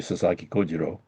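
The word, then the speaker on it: 佐々木小次郎: is Sasaki Kojiro see and Even I say Sasaki Kojiro u it's the way to pronounce it and I've heard just so many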